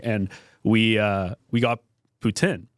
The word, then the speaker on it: poutine: And the girl was like, "Oh, you mean poutine?" And I'm like, "No, that's the American way of saying it." But then I guess that's how they say it out there. But coming from like we're what an hour outside of Quebec where the French I think it's like Putin is like how you say it in French.